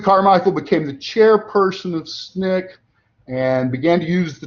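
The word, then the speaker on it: SNCC: I should have put the abbreviation for their name because that's how we uh uh pronounce it. the student non-violent coordinating committee or otherwise known as SNIK and uh Stokeley Carmichael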